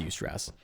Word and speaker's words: eustress: It's pronounced eustress.